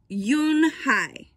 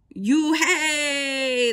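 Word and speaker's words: Unhei: you and i corrected it's spelled u-n-h-e-i it's pronounced yoon hai oh it's you hey the boy said like you hey what about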